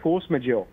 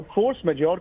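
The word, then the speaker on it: force majeure: मुझे फ्रेंच आती नहीं इसको प्रोनाउंस कैसे करते हैं इसको कहते हैं फोर्स मेज हां ये कांट्रैक्ट में होता है और फोर्स मेजोर का जो मतलब होता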